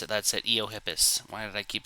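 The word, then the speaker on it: Eohippus: Eiohippus. That's how you pronounce it. That's it. Eiohippus.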